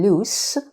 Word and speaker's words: loose: the other word loose notice the difference in pronunciation as well lose and loose means not tight for example a loose shirt